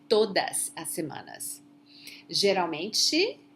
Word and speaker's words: Geralmente: Geralmente, remember that the L is not pronounced as L, it's U, okay? Geralmente, generally, normalmente, frequentemente, raramente.